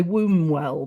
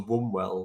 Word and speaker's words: Wombwell: wrong I would say wombwell but there's what is it how is it I would say it's almost like it's w so onewell one one well right okay and and